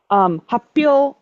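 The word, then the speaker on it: 発表: And when a K plus an H get combined together, the K almost always turns into small tu. That's why you have things like happyo, announcement, versus hatsuon, which is pronunciation. They both start with the same hatsu, but one becomes hatsuon, the other one becomes happyo. It's just a very common thing where we'll get a small glottal stop when we have a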